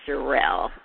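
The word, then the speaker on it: Cherelle: Well, I mean, unfortunately, it's been so many problems, and her name is not Cheryl, it's Sherelle.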